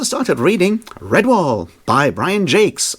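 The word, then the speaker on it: Brian Jacques: reading red wall by Brian Jakes which is apparently how you pronounce that and not Brian Jac which is what I would say looking at the spelling which is of course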